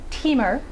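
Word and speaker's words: Timmer: first elves that i'd mentioned um it is pronounced teamer in in swedish in sweden um and it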